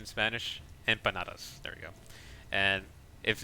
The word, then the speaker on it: empanadas: call empanadas empanadas I think is that's proper pronunciation in Spanish empanadas.